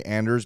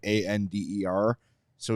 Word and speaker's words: Anders: what he's saying is I know it's easier for you American beat writers to say Anders because it is the American way of saying a nde r so he's just conceding it the difference between Anders and Anders Isn't So drastic that